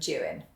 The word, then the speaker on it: Juan: juan a jagged kia you may not be familiar with the name juan it's the manx translation of john and it's spelt j-u-a-n it actually looks a little bit like the spanish name juan but it's not as will i do